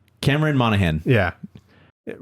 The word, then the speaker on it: Monaghan: I knew some of the syllables. Or Monahan? Cameron Monaghan.